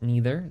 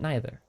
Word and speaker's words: neither: Some people pronounce it neither, some people pronounce it neither.